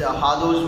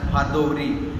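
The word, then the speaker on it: hors d'oeuvre: Like these hardous will arouse the senses of those taste buds, so on. And coming to the examples of hardous, see, maximum mispronounce it as hardouri as the spelling is, but it should be pronounced as hardou.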